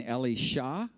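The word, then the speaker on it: אלישע: is Eli Yahoo and Ellie Shaw that's how you would pronounce Elijah Ellie Shaw his Apprentice Eli Yahoo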